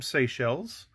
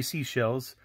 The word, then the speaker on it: Seychelles: you is from seychelles no i didn't say seashells i said seychelles and you're not going to believe how i used to pronounce this country when i was but a child i pronounced it sacres and i don't know